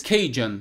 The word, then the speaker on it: Cajun: Ou seja, o Gambit é um Cajun, na pronúncia em inglês, Cajun.